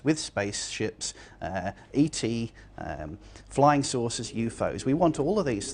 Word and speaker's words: UFO: that in the story the term ufos is pronounced ufos we usually say ufo that's all for study